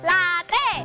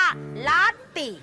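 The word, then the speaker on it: latte: ที ลาเต้ เขา อ่าน ว่า ลติ ลติ สิ ไม่ ใช่ แล้ว คะ ครู ลติ อ่าน ว่า ลั ติ เอ ลั ท อี ต ลี้ ลั ลั ตี ตี้ สูง ด้วย 1 2 3 รั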